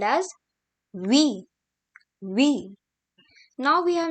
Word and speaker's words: huit: And here comes 8, which is called as huit.